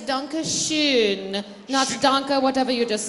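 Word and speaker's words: danke schön: you know it done danke Shon hey well we knew danke Shon the product pronunciation of danke Shin is danke Schon NOS danke whatever you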